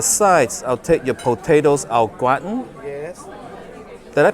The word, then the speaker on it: au gratin: And for the sides, I'll take your potatoes au gratin. Yes. Did I pronounce that right?